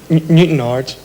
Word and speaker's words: Newtownards: Colin Kennedy from Newtownards. You don't pronounce it like that. Newtonards.